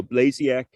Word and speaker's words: Blasiak: to pronounce my name it rhymes with maniac so blasiak maniac that's one for you too